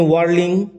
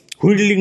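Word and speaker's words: whirling: The wind had been ওয়ার্লিং about the boat, tearing the cells and snapping the Spurs. বানান উচ্চারণ লক্ষ্য করলো। ওয়ার্লিং, হুইডলিং নয়, ওয়ার্লিং উচ্চারণ।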